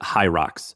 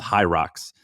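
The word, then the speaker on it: Hyrox: segment but Google hi I think you pronounce it high rocks so h y RX don't go to the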